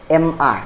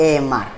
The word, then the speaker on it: amr: Capital रहता है, पर हम लोग ये दो इनिशियल लेटर जो है स्मॉल लेटर में इसलिए दिया था कि AM को साथ में प्रोनाउंस करें M बोल के, और R जो है अलग से प्रोनाउंस करें R। सो हम लोग जब प्रोनाउंस करना है तब उसको प्रोनाउंस करना है कि MR नॉट AMR।